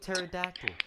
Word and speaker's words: pterodactyl: the cake same with pterodactyl okay the P is silent but you still spell it with the P okay so if we